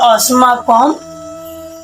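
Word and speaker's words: অস্মাকং: আমরা জানি যে কোনো শব্দের শেষে যদি অনুস্বর থাকে অবশ্যই সেটার উচ্চারণ ময় হসন্ত হয়। তাহলে অস্মাকম তো বিশিষ্টা বিশি মূর্ধন্যস্বয় প্রয়াকারটা।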